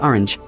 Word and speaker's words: orange: They also told me I do the same with orange, Anya, squared.